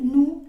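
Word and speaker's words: nous: la siguiente palabra no pero en general si nosotros tenemos que hablar de estas palabras por particular o solitas vamos a decir nu y Vu Okay y lo mismo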